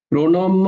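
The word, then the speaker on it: प्रणम्य: প্রণময়া প্রণময়া প্রণিধায় কায়াম প্রণম্য আর প্রণধায় নয় কিন্তু দেখো মধ্যন্য উচ্চারণ করতে হবে কিন্তু মধ্যন্য উচ্চারণ করতে হবে শুধু দন্তন্য বললে হবে না তো প্রণময়া প্রণ মধ্যান্য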